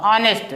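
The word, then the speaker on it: honest: लग गया यहां देखिए ऑनेस्ट में ये साइलेंट हो गया आपका ऑनेस्ट तो ये ऑनेस्ट आ से पढ़ा जाएगा इसलिए ए लग गया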